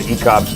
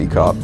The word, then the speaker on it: eKop: Is it eKop? Ek0P? Yeah. Ek0P? Yeah. Could be, depending on where you're from. eKop. I think it's just eKop.